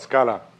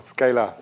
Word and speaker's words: Scala: in language adoption and the language is called scala or scalar in the American pronunciation and so the the